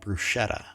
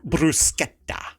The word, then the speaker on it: bruschetta: then we ordered and we made the mistake of pronouncing it bruschetta and she goes no it's bruschetta and she's like you gotta say it right and we just looked